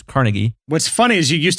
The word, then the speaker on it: Carnegie: And the thing that's important to underscore there, Andrew Carnegie, that's right, Carnegie, it's not pronounced Carnegie, it's Carnegie.